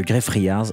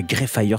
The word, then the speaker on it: Greyfriars: Avant d'aller dans le cimetière de Greyfriars, et non pas Greyfriars, Cédric, attention à la prononciation, habituellement t'es bon en anglais, je comprends pas là.